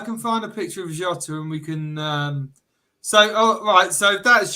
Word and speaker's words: Jota: Just let me load in a picture of Jota because you've got to say it properly. Like Jota. It's not Jota. It's not Jota. It's Jota.